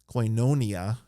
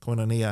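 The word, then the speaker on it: koinonia: that has the accent coinonia has uh a pair of vowels at the beginning of that it's Capa amarran Yoda and that's a diff thong and it has the circumflex accent over the Iota so coin coinonia or coinonia with a short o the Omicron so there's some rules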